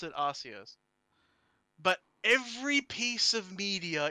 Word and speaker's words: Arceus: know of is uh arceus arceus you know all that yeah some people say archies and i'm like no oh that is just wrong in so many levels abby double c firstly